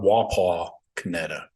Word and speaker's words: Wapakoneta: oh I'm from she she pronounced it a little differently she put this emphasis like on a different letters which is weird I think she called it wapa kanetta Wapakoneta so I don't know if